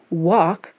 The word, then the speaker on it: walk: Walk comes from an old verb walken. Is there still an L pronounced in talk and walk?